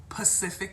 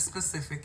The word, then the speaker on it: specific: happy okay I've heard I've heard this one said maybe wu pacific instead of specific yes God I had